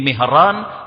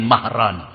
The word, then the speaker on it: Mihran: Kali ini kita akan mengenal seseorang tabiin yang bernama Maimun bin Mihran. atau dibaca juga Maimun bin Mahran.